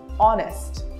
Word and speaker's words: honest: Letter H is silent in all these words.